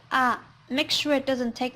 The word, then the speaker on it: あ: it easy to speak and suitable for the context. This letter pronounced a little bit different from English alphabets. In English, A is read like A, but in Japanese, it's read A.